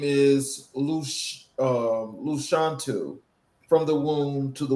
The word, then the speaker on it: Lashawnte: My name is Luc um Luchantu from the womb to the woman. So that is the phonetic way of saying my name.